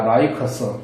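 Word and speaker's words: Lycus: 말들을 또 한번 알아봅시다 LY cus한테 발음은 라이커스입니다 라이커스 또는 LY ko에서 이렇게 발음되기도 합니다 똑같은 사람입니다 사람 이름입니다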